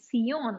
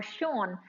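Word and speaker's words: 선: And as it traveled further southeast to South Korea, it was called Sion or Shon, which is spelled as Seon.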